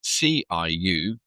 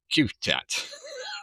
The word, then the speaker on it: Ciutat: So it's spelt, Ciutat is spelled C-I-U-T-A-T. So we've been calling it Ciutat for the last 4 days, but it's Ciutat.